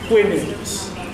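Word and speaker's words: Houyhnhnms: Whinnings. Like a horse whinnying, yeah, like whinnings would probably be the most proper pronunciation.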